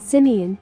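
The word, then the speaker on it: Simien: now a partner in simon land tours pronounced simeon with my ethiopian brother tesfa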